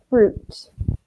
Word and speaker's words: fruit: product fruits and meat careful with the pronunciation ooh fruit okay also vegetables bench tables okay it's just a tough in the middle vegetables vegetables or fruit like zoo I know it is